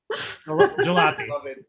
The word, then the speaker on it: jalopy: Jalopy. Love it. No, I actually never heard that word before. I only read it, so good stuff. I don't know. It rhymes with sloppy.